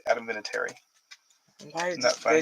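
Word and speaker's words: Vinatieri: Vinitary you think, but it's actually just Adamitary.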